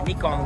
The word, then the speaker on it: Nikon: Nikon is what it's pronounced in Japanese.